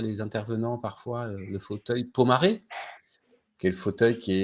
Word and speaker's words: Pomaré: Et ce fauteuil Pomaré, on l'appelle maintenant le fauteuil Emmanuel ou le fauteuil Pomard, parce qu'on prononce très mal le mot Pomaré. Donc les antiquaires en France l'appellent fauteuil Pomard.